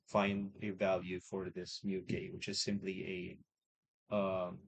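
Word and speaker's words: μk: is what we call mu k. So it's pronounced as mu k mu which is a Greek letter mu k okay that's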